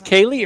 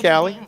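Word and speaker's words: Kallie: Now, is this Kaylee or Callie? What's she going by today? We're calling it Callie. All right. Spelled with a K, like the movie California with Brad Pitt.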